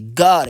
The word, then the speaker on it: got: Le O, tu le lis comme... Tu le lis comme A. OK, donc G-A-T, got. C'est comme ça, c'est la vraie prononciation du mot là qu'elle a là. Hein, je vais... Voilà, la vraie prononciation du mot, de ce mot là, c'est G-A-T. Got, OK. Mais l'écriture, c'est G-O-T.